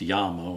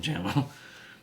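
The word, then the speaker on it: Jamo: speakers from bmw jmo which i i think is actually pronounced yamo and i've been calling them jamma um polk martin logan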